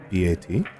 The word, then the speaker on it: Bet: And guess how bat is spelled? B-A-T? No, B-E-T, but it's pronounced bat. How?